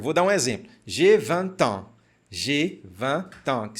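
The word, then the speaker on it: vingt: E esse T vai fazer uma ligação com esse carinha aqui.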